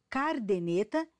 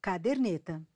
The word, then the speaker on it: caderneta: em vez de cusp pronunciar ou escrever cardeneta em vez do correto caderneta também a cacoepia pronunciar